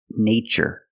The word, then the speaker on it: nature: in these two words in the first word we use the long a like day and say nay nature nature is the thing